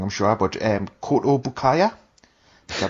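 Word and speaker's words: Kotobukiya: So we'll start off with, I'm going to pronounce this as wrong, I'm sure, but Koto Bukaya. Is that how it's pronounced? Sounds right. I say Koto Bukiya, but it is right.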